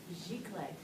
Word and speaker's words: giclée: It's a French word. It is. Pronounced giclée.